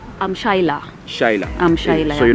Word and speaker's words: Shyla: I'm Shaila. Shaila. I'm Shaila. So you're not Sheila? I'm Sheila. Oh, that's how I pronounce it.